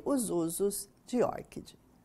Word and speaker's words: ORCID: E a pronúncia correta, que os próprios desenvolvedores pronunciam como ORCID.